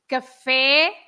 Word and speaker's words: café: You have, for example, café. You have to open the e, right? But for example, if you want to say a coffee shop, or it's cafeteria, cafeteria. So the cafe, you say fu, but then if you have cafe with an accent on the e, it must be the open e, cafe.